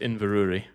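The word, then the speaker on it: Inverurie: And yes, that is that is pronounced Invuri.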